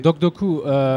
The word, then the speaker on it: DocDoku: du projet doc docu de coûts comment on prononce docks de coûts ok ok donc docks de coûts c'est le nom de la société le projet